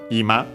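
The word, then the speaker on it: 今: Technically, there's another Ima with a different accent in that case. Accented that one on the last syllable, this one on the first one, so easy to we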